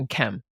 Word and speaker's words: Nkem: yeah yeah just briefly my name is pronouncing in Kem it's all good the